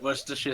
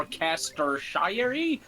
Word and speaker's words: Worcestershire: Kester it's like yeah Bliss does my favorite Worcestershire sauce and they were like we're a Caster shyary yeah or Chester Shire sauce what's the [